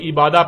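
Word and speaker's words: عبادة: اور جب عربی لہجے میں اس لفظ کو پڑھا جاتا ہے تو تیز ساکت ہو کر ہے کی آواز میں بدل جاتی ہے، یعنی اسے عبادہ پڑھا یا بولا جائے گا.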